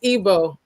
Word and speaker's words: Igbo: Ibu landing. I say that to say the Ibu DO like Yeah. In Nigeria. Yeah. It's called It's Ebo. Ebo. Yes, it's spelled it's spelled Igbo.